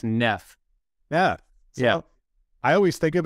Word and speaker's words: Neef: since you've painted this picture I'm gonna say nafe oh close no it's Neff yeah I always think of it as Neff because I'm like erroneously reading two F's well